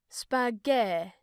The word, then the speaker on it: spaghetti: You pronounce the tt with a strange r sound. Thanks, Claudio. Come on. Hush! Sì, va bene. You have to pronounce it like in the word time with a strong emphasis on the t.